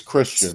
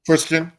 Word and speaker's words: Christian: How do you pronounce that name, Bruce? It's Christian. Hopefully I spelled it right. Christian. Oh, okay. It's Christian or Chris. I go by Chris.